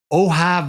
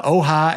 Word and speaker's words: Ojai: And we're going to do a little junket up to make sure I've been studying how to say this, the Ojai Valley.